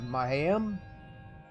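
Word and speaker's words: Mayahem: It's supposed to be a combination of Mayan and Mayhem. It's Mahayam.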